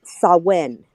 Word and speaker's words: Samhain: is how it's pronounced spelled samhain but it's spell it's pronounced sawin yeah yes so when